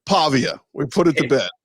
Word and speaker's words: Pavia: The New Mexico State pronunciation guide, PAH, P-A-H, in big letters, and then V. So Pavia.